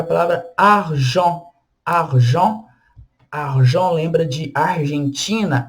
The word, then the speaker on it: argent: E a última letra é a letra T, que a gente não pronuncia ela também, argent.